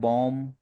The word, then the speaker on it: bomb: हाँ, कई बार हम कहते हैं बॉम, BOMB, तो यहाँ बॉम में बी साइलेंट। बी साइलेंट है।